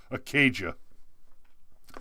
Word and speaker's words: Acadia: sorry it's a parish that means it's it's pronounced acadia said a cage of parish sheriff kp gibson